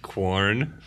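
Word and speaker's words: Quorn: it's just corn corn that's not how qu is pronounced tell them corn yeah tell them that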